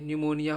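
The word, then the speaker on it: pneumonia: गया डैम हो गया अब पी कब साइलेंट रहेगा एन और एस से पहले अगर पी आएगा तो वो साइलेंट रहेगा जैसे पी एन यू ई यू एम ओ एन आई ए निमोनिया हो गया साइको हो गया स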